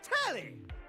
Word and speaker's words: Telly: Telly rhymes with Nelly. Like, whoa, Nelly.